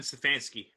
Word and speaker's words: Stefanski: That would be Kevin Stefanski. Stefanski, yes. Stefanski. I knew it's something pronounced.